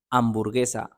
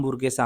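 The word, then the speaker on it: hamburguesa: एच को कहते हैं आचे लेकिन इसकी आवाज कहीं भी नहीं आएगी यह हमेशा कहते हैं यह मुदा है इसकी आवाज बिल्कुल नहीं है जैसा कि अंबुर गसा हम बुगे सा हम नहीं कहेंगे हम कहेंगे अंबुर गसा एच की कभी भी आवाज नहीं होती ई आई को कहते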